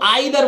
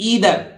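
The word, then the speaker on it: either: देखियो इसको आइदर बोलते हैं, अब तक आप है ना, आइदर नहीं बोलेंगे बंधु, ई आई को क्या बोलेंगे ईदर, ईदर ईदर माने या तो, आइदर और का प्रयोग करते हैं या तो या है ना, आइदर और, आइदर नहीं है ईदर और, ठीक है।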